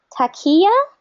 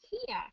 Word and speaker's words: Tia: it right hi hi how do I say your name um Tia Tia um it's kind of like um tiger oh oh got it